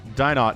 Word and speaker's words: DinoT: English casters did I'm sure a Spanish caster might say it differently but died not is what we're gonna roll with here I really want to say Dean though because that's like the French pronunciation of those letters but not French man he's Chilean he's from the South America so one base should